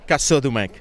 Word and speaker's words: Casaudemec: First of all, pronounce that for us. Casaudemec.